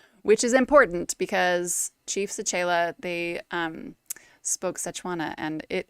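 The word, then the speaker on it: Sechele: And it's say, like saying words, right? Say. Che, like change. Che. And then le, like let. So the end has to be like lazy. Sechela.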